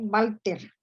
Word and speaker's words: Walther: Montes, sobre Walter, que decía que prefería pronunciar su primer apellido según la fonética alemana, es decir, Walter, que que poseía una amplísima biblioteca de historia.